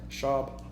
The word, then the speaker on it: Schaub: Because Brennan Schwab, or Schaub, how do you say it? Schaub.